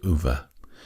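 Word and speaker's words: Ove: tickled by this one called a man called UVA and his name is spelled o v e Frederick backman is the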